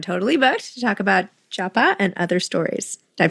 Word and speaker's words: Japa: It's pronounced JAPA, not pa, but it's like a pa sound, like a KW almost.